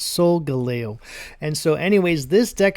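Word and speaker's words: Solgaleo: And yes, I finally said Soul Galo correctly. I had to Google it on how to pronounce it, but it's Soul Galo.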